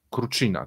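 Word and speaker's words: Krutikhin: gazu Michaiła kró China krucina tak tak się to wymawia Okej okej sektor cywilny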